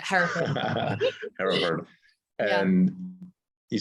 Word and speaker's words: Hereford: like yoga retreats in Hartford at the farm, right? And you mentioned Bhakti as well. I'm sorry, I said Hartford, right? How do you say it? Okay, everyone does it. Hereford.